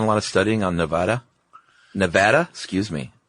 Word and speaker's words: Nevada: who live in Nevada, telling us kind of firmly that we're saying it wrong, and please say it right from now on. Yeah, they say it's Nevada, and my response is always the same.